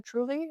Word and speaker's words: Trulli: This is that's spelled, Trulli. Yeah. oh, yeah, Truly, okay. So that was right? Aliso Viejo, Yeah, Lisa Viejo. and then Truly, like, Truly Yours, Oh, Truly Yours. but it's just Truly.